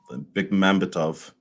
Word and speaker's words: Bekmambetov: Yeah, I had it kind of worked out how you pronounce it. It's Bekmambetov, Timur Bekmambetov.